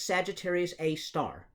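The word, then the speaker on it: Sagittarius A*: with little Asterix there everybody pronounces that as Sagittarius a star and so that actually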